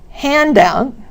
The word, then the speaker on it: handout: As you can see, the stress is on the first word for the two-word nouns and the second word of the two-word verbs.